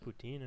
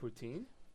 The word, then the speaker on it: poutine: supposed to say it poutin poutin supposed to be I thought it was supposed to be like p no no no cuz the te is the T is like an S for some reason why